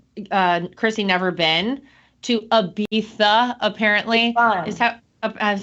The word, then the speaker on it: Ibiza: do you say it so with the reason why they say bartholona and Ibiza is because it's Catalan which is a dialect of Spanish so I've Been to